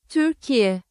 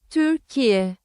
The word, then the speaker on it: Türkiye: Google pronunciation. Turkey into Turkish. No, not Tigrinya. Turkish. Türkiye. Turkey. Yes. Yeah, I thought there was a y on the end. Türkiye.